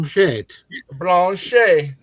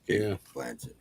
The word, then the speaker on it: Blanchett: Is it Blanche? Is it Blanche? She don't blow on Blanchet. The T is silent. No, it's Cate Blanchet.